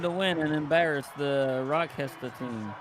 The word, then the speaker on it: Rochester: Because we wanted to win and embarrass the Rochester team. It's pronounced Rottenchester.